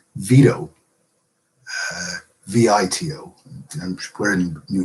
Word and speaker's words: Vito: It's because the T sound in the Italian name Vito, at least as it's pronounced in America, is considered part of the same foot. It has 2 syllables, V and toe, but they're part of the same foot, and therefore the T is flapped.